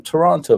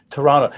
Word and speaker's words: Toronto: i got here either toronto that's interesting so you the the second t is silent such like in the